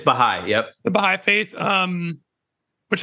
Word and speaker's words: Baha'i: Is that how you pronounce it? It's Baha'i.